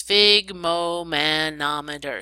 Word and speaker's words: sphygmomanometer: a device called a sphygmomanometer everybody say it's fig momen amador sphygmomanometer it's spelled just like it sounds and what we're looking